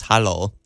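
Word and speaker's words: hallo: really small kitchen okay hello in Norwegian is hollow ah hello there you go that's easy how do you spell that h-a-l-l-o okay A little easy enough Hollow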